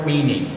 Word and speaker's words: Mesny: that there was Father Meany, who was here in 1920s, I think into the 30s. It's spelled Mesny, but I think because he's Belgian, the S is silent. They always call him Father Meany.